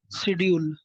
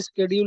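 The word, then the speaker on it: schedule: শিডিউল। এই শিডিউল, এটা অনেক সময় স্কেডিউল উচ্চারণ করে।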